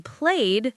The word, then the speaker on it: played: For example, the ed in walked sounds like a T sound, but the ed in played sounds like a D sound.